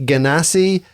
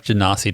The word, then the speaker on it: genasi: around this table a ganasi and uh we had to clarify the pronunciation he went to Google and pressed the button and it told us and it wasn't what you just said janasi a janasi janasi oh that's